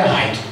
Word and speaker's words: Light: É Light ou é Raito? Quem acha que é Light aí? Light ou Raito? A grande maioria fala Raito, né?